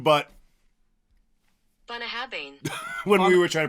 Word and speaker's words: Bunnahabhain: year because we said every other name but bah haban when we were trying to pronounce it bah haban like a bun buah habin it's looks NAA